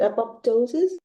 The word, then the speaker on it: apoptosis: Apoptosis.